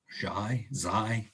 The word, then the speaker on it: xi: Xi is how that's pronounced commonly.